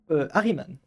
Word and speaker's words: Ahriman: Harryman, tout simplement. Ok, Harryman. Ahriman. Voilà. Alors, comment ça s'écrit s'il te plaît?